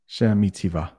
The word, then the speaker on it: Sheremetyevo: Sheremetyevo. Sheremetyevo. International Airport. I hope that was right. I had some practice with pronunciation.